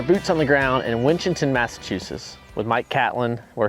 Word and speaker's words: Winchendon: You could call it Winchentucky, but we call it Winchendon. Winchendon.